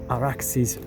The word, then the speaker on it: Arax: village of Arax right by the Arax or Araxis River using the Persian Aadian Sumerian pronunciation.